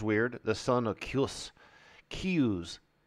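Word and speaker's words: Kyuss: the son of kills cues why they kill me every time with these things key so k y is key and the rest is ooze it's almost like Chinese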